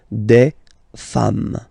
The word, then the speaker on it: femmes: and as we said, you don't pronounce it, so you get des femmes.